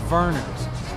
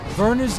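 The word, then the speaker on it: Vernors: This week, I try to make up with Detroit with Lions fans, and I screwed it up because I mispronounced the name Vernon's. Verner's is the oldest ginger ale company in the country.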